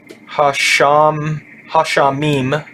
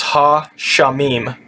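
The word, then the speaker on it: הַשָּׁמַיִם: Hashamim, that's what this is.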